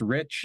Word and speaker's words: Reich: For whatever weird reason, I was always taught that it's pronounced Rich, even though it looks like Reich.